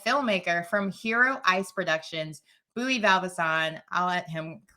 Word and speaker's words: Buí Baldvinsson: It's in Icelandic. It will be Buí Baldvinson. Buí Baldvinson.